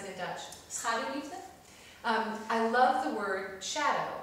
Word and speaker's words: Schaduwliefde: And in the Dutch title, Shadow Love, how do you pronounce it in Dutch? Schaduwliefde.